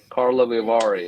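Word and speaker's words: Karlovy Vary: Carlo Vivari.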